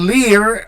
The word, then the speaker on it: lire: So, Right there, I'm pronouncing the R, but there is no vowel after that R. No vowel sound. And Lear, I am pronouncing the R because I have an E at the end, and so I sound the R.